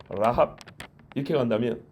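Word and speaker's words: רַהַב: 여기 라합은 파타흐라고 단모음이에요. 라합 이렇게 간다면 여호수아의 라합은 라합 길어요.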